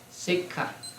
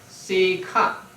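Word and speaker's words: sekkha: Sikha. S-E-K-K-H-A. Sometimes it is spelled with only one K. So it can be Sikha or Sikha.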